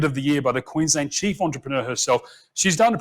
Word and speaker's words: Queensland: Thank you very much, Adam, to the sunny state of Queensland, and that is how you pronounce it, Queensland. The emphasis is on the wing.